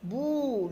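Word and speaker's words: bout: Bou un seul Son Bou le Bou le T est une lettre muette nous pronom personnel nous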